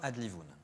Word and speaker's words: Adlivun: C'est quoi Adlivoun? Alors Adlivoun, déjà oui, parce que le titre est pour beaucoup compliqué à prononcer, donc on dit bien Adlivoun.